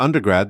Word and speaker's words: undergrad: When you say the full word undergraduate, the stress is usually in the middle, but when you shorten it to undergrad, the stress moves to the front.